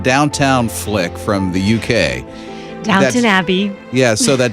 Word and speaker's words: Downton: Yeah, so that Downtown Abbey thing. There's no town, it's ton. Downton. Is it an English thing that they say downtown, Downton? Look how it's spelled. It's not spelled downtown.